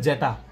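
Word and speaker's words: zeta: summation of R equals to ওয়ান টাপ টু এন F prime of জেটা আর, F prime of জেটা এটা হচ্ছে জেটা, এটার উচ্চারণ হচ্ছে জেটা, এফ প্রাইম অফ জেটা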